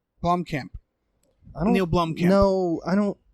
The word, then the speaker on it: Blomkamp: Blomkamp? Blomkamp.